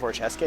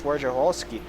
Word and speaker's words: Wojciechowski: Actually, I think it's not Wojciechowski. I think it's Wojciechowski. There's the whole middle syllable that I'm skipping over.